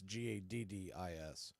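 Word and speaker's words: Gaddis: you're wondering hit his last name is not spelled like Evan gotus it's Gadis first pitch on the way to Kellick is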